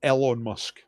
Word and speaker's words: Elon Musk: up the wrong way it's Elon Musk or Elon Musk pronounced both ways Elon Musk literally fired